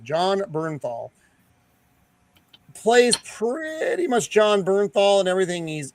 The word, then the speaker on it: Bernthal: It's all it's actually uh uh John and I always up the pronunciation of his last name. Uh Burnernthal. John Bernthal plays pretty much John Bernthal and everything.